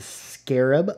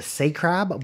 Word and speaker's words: scarab: Very Egyptian looking because we have the scarab. As a kid, I used to think that was called a sacrab, but I believe it's pronounced scarab.